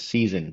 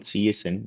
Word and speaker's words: CSN: So it's also some people, it's pronounced as season, not CSN, my bad.